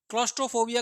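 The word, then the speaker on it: claustrophobia: क्लॉस्ट्रोफोबिया को pronounce कीजिए, कैसा लग रहा है, क्लोज लग रहा है नहीं लग रहा?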